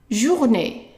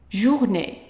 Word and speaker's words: journée: Now, if I tell you that the E with an accent on top of it is pronounced as a short A. Not A, just A. And of course, the last E is silent.